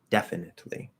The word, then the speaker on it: definitely: team definitely we're pr in that particular word i think we would almost never push out the t um even when we're enunciating uh but in the flow of normal speech that word you can drop the t yes uh in the